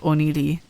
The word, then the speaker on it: Oni Lee: It's pronounced Oni Lee.